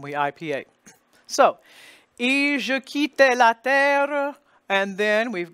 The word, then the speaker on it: quitte: We're going to say just, tu m'appelais, and then we're going to go, et je quitte. There's your QU spelling again, and the U is silent, so the QU becomes a K sound.